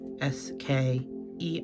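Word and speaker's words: skein: as you can actually see this is how it's spelled right there s k e i n ske so that is what this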